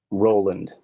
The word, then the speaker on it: Roland: Mania himself uh can you give me the pronunciation of your name as I've never actually heard it spoken out loud Roland Roland okay awesome Roland um not many